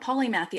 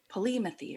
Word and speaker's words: polymathy: right by the way yeah polymath II I have the British say it different like Polly methey or something like that but okay Americans call it polymath II so basically what that